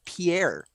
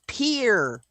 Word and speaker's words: Pierre: is your capital of pierre every single one of them will get really pissed at you and correct you immediately it's peer they mispronounce a french